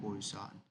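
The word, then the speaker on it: Poisson: one is binomial and posan and the third is normal distributions. Okay. The poan is also called posan. Sometime the pronunciation is posan. Okay. Both of them are correct.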